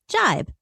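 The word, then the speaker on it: gibe: of the day is jibe spelled g-i-b-e and pronounced jibe it is a noun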